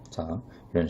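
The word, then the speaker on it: زاي: 특히 자이 발음을 하실 때에는 살짝 모래로 사포를 긁는 느낌으로 즈 발음을 해주시면 돼요. 그래서 자이 라고 해주면 됩니다.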